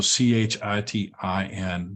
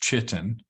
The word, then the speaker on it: chitin: are made of of Titan this substance called chitin let me underline that keyword so c-h-i-t-i-n not pronounced chitin I've had students uh um who have gotten